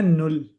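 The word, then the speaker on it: null: zero को कहते हैं नुल नुल या नुल नुल या जैसे या औरंगजेब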